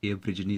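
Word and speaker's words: aborigine: तो एब्रिजनी का मतलब होता है, इसे आप अब ओरिजिन मत बोलिएगा, एब्रिजनी इसका सही प्रोनाउंसिएशन है।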